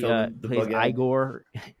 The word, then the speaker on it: Igor: you're putting me on are you igore no Igor no let's pronounce igore like yeah Walk This